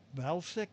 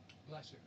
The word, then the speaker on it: Vlasic: The bird that represents uh, Valsic. How do you pronounce the pickle company? Vlasic.